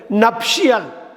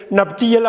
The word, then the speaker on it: nuptial: கல்யாணம் சம்மந்தப்பட்டது நப்ஷியல். நப்ஷியல் NUPTIAL. NUPTIAL நப்ஷியல்னா திருமணம் சம்மந்தப்பட்ட, ரிலேட்டட் டு மேரேஜ், திருமணம் சம்மந்தப்பட்ட அப்படின்னா நப்ஷியல்னு பேர். NUPTIAL. நப்டியல் அப்படின்னா உச்சரிச்சிடக்கூடாது, நப்ஷியல்.